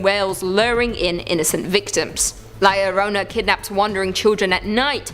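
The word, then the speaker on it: La Llorona: a number two luck hailing from Hispanic folklore liarona which I'm pronouncing correctly now after you guys yelled at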